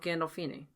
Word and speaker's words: Gandolfini: gandolfini as the main soprano gandalf eenie gandol gandolfini i know but like how do i say